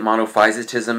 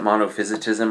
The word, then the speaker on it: monophysitism: Um today we're going to be looking at monofisotism. That's how it's pretty much properly pronounced. Again, some people pronounce it monophysitism. I've pronounced it both ways.